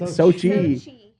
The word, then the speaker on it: Sochi: Sochi.